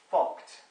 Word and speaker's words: FCUKT: FCUKT, which is pronounced fucked.